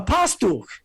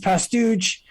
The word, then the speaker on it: Pastuch: So I give them ID, and the woman says, "Oh, a Pastuch." I said, "No, it's actually pronounced Pastuch."